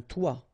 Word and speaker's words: toit: Okay, and then both of them are pronounced like toi, un toi, toi.